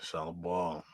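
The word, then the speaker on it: Shalla-Bal: Yeah, Shallow Ball.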